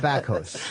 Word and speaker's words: Bakos: Bakos is Polish.